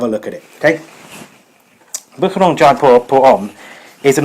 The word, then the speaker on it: Boucheron: This is Boucheron, or Boucheron, I think it's properly pronounced.